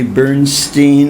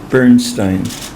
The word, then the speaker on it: Bernstein: It doesn't matter whether you say Seymour or Seymour or Seymour, and it doesn't matter if you say Bernstein or Bernstein. It doesn't matter at all. Some people say either or either. There's a question about how to pronounce that. Actually, I call myself Seymour Bernstein.